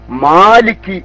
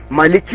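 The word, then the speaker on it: مَالِكِ: ഓതി വരുന്ന ഓത്തനുസരിച്ച് ഓതുമ്പോൾ മാലിക്കി എന്നുള്ളൂ. മാലിക് യൗമിദ്ദീൻ എന്ന് പറഞ്ഞാൽ അത് പൊച്ച തെറ്റായി. മാലിക്കി എന്നതിൽ മുത്തസിലില്ല, മുംഫസിലില്ല, ലാസിമില്ല, ആരിലില്ല, ലീനില്ല. ഒരു മദ്ദുല്ല, അസ്ലിയായ മദ് മാത്രമേ അവിടെ ഉള്ളൂ. മലിക്കി അല്ല മാലിക്കി, അത്രമാത്രം.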